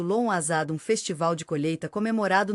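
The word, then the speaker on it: Lughnasadh: Lugnazad pronunciado. Lon Azad, um festival de colheita comemorado no início de agosto, marcando a primeira colheita do ano.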